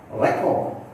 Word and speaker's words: record: See, look here where the stress has been given. It is only on first syllable. And that where it has to be stressed, I have highlighted in the capital letters. Just see. Export, China, table, record, permit. See, all this word I stressed on the first syllable because they are two syllable word and more than that they are nouns.